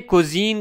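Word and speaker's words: cuisine: झोंका का कुजीन कुजीन कानों को इंग्लिश में कुजीन कहा जाता है।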